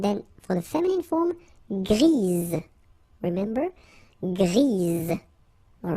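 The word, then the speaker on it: grise: for the feminine form grease. Remember grease. All right. So when you add this uh basically it gives you the pronunciation or the possibility to pronounce the previous letter here.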